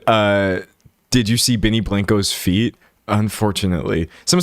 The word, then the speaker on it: Blanco: Benny Blanco pronunciation.